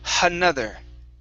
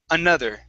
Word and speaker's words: another: the word another here you added an h at the beginning saying another okay it would just be another okay so take off the h sound at the very beginning it's uh another another okay